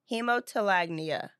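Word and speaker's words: hemotolagnia: Hemotelagnia. Okay. If that's pronounced like a guh. That yeah.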